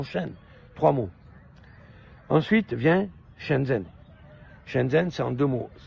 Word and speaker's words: Shenzhen: e n guandon Chen trois mots ensuite vient chenzen chenzen c'est en deux mots s h e n espace ZH e n Chen zen ensuite vient guanjou la ville de guanjo qu'on